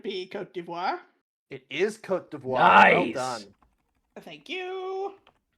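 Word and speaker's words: Côte d'Ivoire: The hint is I had to look up the pronunciation for this country on the French pronunciation Oh, website. Louisa, could it be Cote d'Ivoire? it is Cote d'Ivoire.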